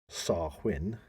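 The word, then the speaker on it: Samhain: in modern times Wayne Gaelic word pronounced sarwin okay so almost getting to write this half win SAR win for those people everybody listening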